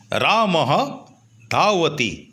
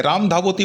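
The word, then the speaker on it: রামঃ ধাবতি: রাম দৌড়াচ্ছে কি হবে রামহ ধাওতি দেখো বিসর্গর উচ্চারণ আমাদেরকে করতেই হবে রামধাবতি বললে হবে না রামাহ দাওতি অনেকেই ভুলটা করো এটা সেইজন্য এটা তোমাদেরকে মনে করিয়ে দিলাম রামাহ ধাওতি মানে রাম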